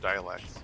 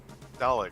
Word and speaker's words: Daleks: I meant to mention this earlier, but is it just me or do the robots remind you of dialects or whatever? Daleks? Daleks. That's how to Daleks?